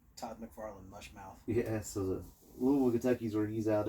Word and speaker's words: Louisville: area based out of Louisville Kentucky notice how I said it right you know I'm from here but it wasn't Louisville I gotta say it with a mouthful of marbles yeah yeah you gotta you